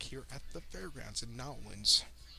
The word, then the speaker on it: New Orleans: I have a cousin that works down in as a doctor in New Orleans, so she educates me. It's not New Orleans or New Orleans, it's Nolens, like locals say.